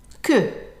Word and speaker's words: que: Not like English where it has the sound of a w, qu. In French, you just que.